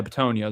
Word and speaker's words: Bitonio: Um Mekhi Becton, Jonah Williams, and Joel uh Bit- I can't pronounce his last name. He's a big mother trucker. Yeah, Bitonio. There we go. I got a Bitonio.